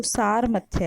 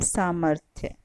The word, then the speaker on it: सामर्थ्य: जाते हैं अक्सर, लेकिन अगर हम इसका सही उच्चारण करें दूसरे शब्द का तो सारमथ्य है ये। अब हम देखें तीनों में से सही शब्द कौन सा है। तीसरा शब्द सही है सामर्थ्य।